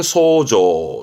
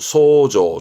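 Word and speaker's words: 想像: 대표적인게 이겁니다 상상하다 상상 시험 아주 많이 나오죠 발음은 소조 소조 조심하시고 소조 그렇죠 예상하는 거죠 요소 요소 회저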